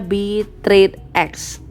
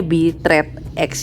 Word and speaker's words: Bitradex: Namanya adalah Bitradex atau bacanya Bitradex. Kayaknya Bitradex ya bacanya ya.